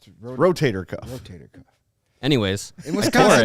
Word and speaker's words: rotator cuff: We know what you're talking about, but you said rotor cuff. Rotator cuff.